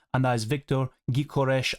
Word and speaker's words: Gyökeres: I think that's a pronunciation. I've seen so many people talk about this in the recent comment sections and stuff. I believe he has a Hungarian name because he's of Hungarian descent.